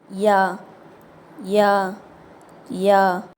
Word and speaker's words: ي: தொண்டையிலிருந்து வெளியாகணும் ஹம்ஸா ஹம்ஸா யா இந்த எழுத்து நாக்கோட நடுப்பகுதி இருக்குல்ல அது வாய் மேல இருக்கக்கூடிய அன்னம் அந்த கூரையை தொடாம அது கிட்டக்க இருக்கும்போது உச்சரிக்கணும் ஏற்கனவே நம்ம ஷீன் உச்சரிச்சோம்ல அதே இடத்துல இருந்து தான் இந்த எழுத்தையும் உச்சரிக்க போறோம் யா யா யா அல்ஹம்துலில்லாஹ் இன்னைக்கான வகுப்பு